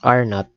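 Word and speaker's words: R₀: the initial resistance of so that's R not it's pronounced as R not R sub Z or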